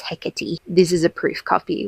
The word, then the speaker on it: Hecate: Nikita Gill, which is Hecate or Hecate. I actually never know, but I think based on how we pronounce things like Aphrodite, it's Hecate.